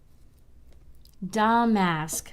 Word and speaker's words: damask: Damask. Peggy said the accent's on the first syllable.